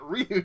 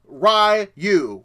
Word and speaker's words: Ryu: I've always say in 2 syllables Ryu, because you have RY and then the letter U. Okay, and if that's wrong, it's wrong. Ryu, whatever, it means dragon in Japanese.